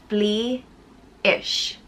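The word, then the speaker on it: Flidais: the next one is fleisch and this one isn't a direct meaning of a nature word but fleeish was the goddess of nature or cattle and wild things and it's pronounced flea ish it's spelled f-l-i-d but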